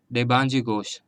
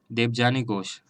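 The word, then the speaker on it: देबजानी घोष: है UV Praveen Rao एंड the president is देबांजी घोष। Clear है students? President हमारे नास्कॉम के हैं देबांजी घोष। Sorry, I have incorrectly pronounce the name. President है हमारे देवजानी घोष।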